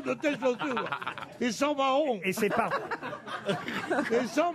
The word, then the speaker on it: Mahon: Sauf que c'est pas mayo, c'est Mahon, le porc. Bah parce que vous le prononcez à l'américaine.